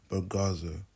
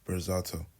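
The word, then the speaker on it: Berzatto: On top of this he mispronounces kmi's last name on purpose to almost belittle him calling him burgazo when his real name is pronounced bizato.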